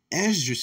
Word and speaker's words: Esdras: Esdras is how you will pronounce his name in the Greek.